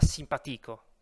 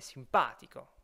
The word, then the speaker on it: simpatico: C'est pas simpatico comme antico, mais simpatico. Vous voyez, l'accent ne tombe pas sur le i, comme on l'avait vu avant. Donc on obtient simpatico, simpatici.